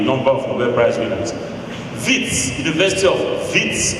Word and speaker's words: Wits: Wits, University of Wits, Witwatersrand, pronounced WITS, was established 121 years ago.